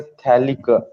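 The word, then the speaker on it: phthalic: Name याद रखना है थैलिक एसिड। मतलब अगर बेंजीन को एडजेसेंट कार्बन पे ऊपर दो सीओएच हो गए, इसको थैलिक एसिड बोलते हैं, पी साइलेंट है इसमें, ओके।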